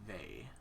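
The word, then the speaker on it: Vay: she is a woman her name is laity vey uh v-a-y uh if you want to go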